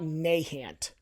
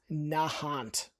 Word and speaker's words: Nahant: It's not Nahant, it's Nahant.